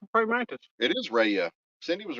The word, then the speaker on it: Rhea: what I was asking R was somebody name Ray is it Ray col yeah R EA did